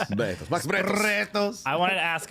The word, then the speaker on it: Bretos: back with Max Bretos. And I did want to ask because... That's the best pronunciation yet. Bretos. Bretos. Max Bretos.